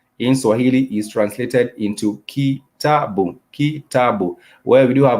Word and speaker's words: kitabu: For example, the syllable in the word kitabu, kitabu, that is a vowel sound boom, which has the consonant B and the vowel U to make the syllable boom, boom, kitabu, kitabu.